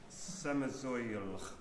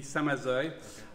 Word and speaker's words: Samazeuilh: The next piece is by a composer whose name neither of my colleagues can pronounce. So I'll turn to David. Samazeuilh. It would be Samazeuilh.